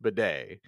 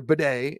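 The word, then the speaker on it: Badie: wasty but it's B he's using the French pronunciation uh so it is Tyler bedet in the Broncos backfield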